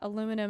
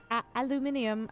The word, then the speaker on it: aluminium: I'm assuming chat that aluminum is is is a a resource that I can find somewhere out here, right? Aluminium.